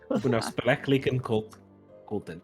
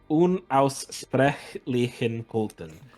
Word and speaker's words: Unaussprechlichen Kulten: And the Unausprechlichen Kulten. Not gonna be able to put that in my notes. Unausprechlichen Kulten. I'm also mispronouncing it. Unaussprechlichen Kulten. There we go.